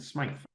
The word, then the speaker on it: Smythe: Smith and Smythe. but both pronounced Smith.